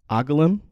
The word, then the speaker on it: Angoulême: Angoulême. Yes. I was close. There was a little N in there that I didn't, there was a little inflection that I almost had.